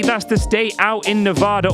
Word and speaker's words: Nevada: the stay out in Nevada or Nevada if you want to say it like the locals do snaring up the strip